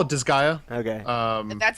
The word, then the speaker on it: Disgaea: I call it Disgaea. Okay. That's how I but- would pronounce it.